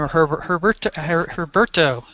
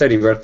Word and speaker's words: Heriberto: I always say his name, Herberto. Why don't you say your name and introduce yourself to everybody correctly. Yes, my name is Heriberto, just call me Beto.